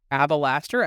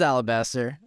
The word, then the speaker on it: Alabaster: Am I the one who's stupid, or is this a meme on how Deathsie pronounces this card? No, I thought it was Alabaster. I actually don't even know. Oh, it is Alabaster.